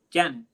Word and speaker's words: Janet: It's a Y. She's Mexican. She's Hispanic. Oh, then yeah, Janet.